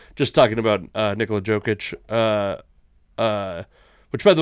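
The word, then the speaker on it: Jokić: talking about uh Nicola jokic uh uh which by the way you say jokic and everyone else goes soft Jay you go softer or silent Jay yeah almost I'd have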